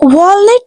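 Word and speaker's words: walnut: word will be carat अखरोट को English में वॉलनेट कहते हैं the word will be वॉलनट वॉलनट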